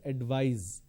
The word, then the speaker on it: advise: in the verb form instead of C you need to use S and it's pronounced as advise so please advise me